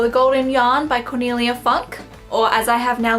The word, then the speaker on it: Funke: Reckless 3, or The Golden Yarn by Cornelia Funke, or as I have now learnt to pronounce it, Cornelia Funke.